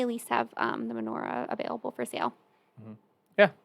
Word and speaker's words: menorah: yeah i was like i know i'm missing a syllable so i apologize about